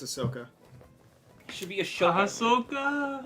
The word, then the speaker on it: Ahsoka: I love Hut yeah did you know it's pronounced Ahsoka and not a shoka even though there's a H in it yeah it's it's Ahsoka should be a shok ahoka AOK do you